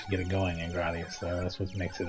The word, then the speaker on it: Gradius: an interesting game yeah I said gradius this time instead gradius I can deal with it that's what it's like when you're playing gradius actually gradius probably is the most correct pronunciation and that's the one I use the least often you